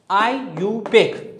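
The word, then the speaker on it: IUPAC: आईयूपीएसी ये इसको हम आईयूपीएसी को एवरी वो प्रोनाउंस करते हैं क्या किस तरह आई you take आईयूपीएसी आई यू पैक सही इसको हम इस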